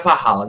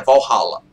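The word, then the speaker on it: Valhalla: um tauren no valhala na verdade não é varala né No Brasil se fala varala mas a pronúncia certa é valhala tá você vê um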